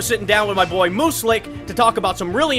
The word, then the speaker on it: Muselk: It's pronounced Muselk, like Muselk. So it's like a moose and an elk together, like the ultimate deer hybrid?